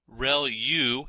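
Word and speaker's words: ReLU: There are multiple hidden layers like convolution layer rel u is how that is pronounced and that's the rectified linear unit that has to do with the activation function that's used.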